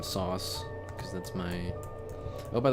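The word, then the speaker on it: S0S: And yes, that's a zero, not a capital O or anything. It's pronounced sauce. I've seen people say SOS or other thing. No, it's supposed to be sauce.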